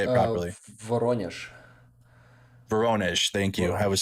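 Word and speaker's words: Воронеж: Took, how do you say Vorozhne? How do you say it properly? Voronezh.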